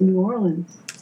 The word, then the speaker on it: New Orleans: leave and he said it isn't pronounced that way it's pronounced New Orleans he said I almost